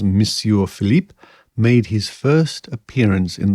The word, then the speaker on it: Philippe: by Monsieur Felipe and I think it's pronounced Philippe it changes on the newspaper so I will stick with Philippe it could be Philip